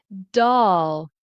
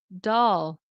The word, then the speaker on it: dull: So I'm going to say it for you. Uh dull dull. And it kind of I mean for someone who may not have these two vowel sounds it might sound like o dole o dole right o dull do add in doll.